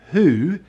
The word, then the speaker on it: who: is it that's right who is the only question word here with the pronounced letter h it's normally silent after